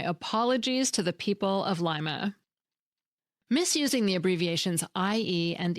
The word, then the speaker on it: Lima: The term Mad Money first appeared in an Ohio newspaper in Lima, Ohio, not Lima, Ohio. Thanks to everyone who called or wrote, and my apologies to the people of Lima.